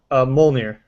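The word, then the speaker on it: Mjölnir: How do you pronounce this hammer's name? Thor's hammer's name? Mjolnir.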